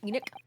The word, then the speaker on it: Enoch: It's pronounced Enoch.